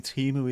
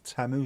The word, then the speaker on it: Temu: It's not actually Timu either, it's Temu.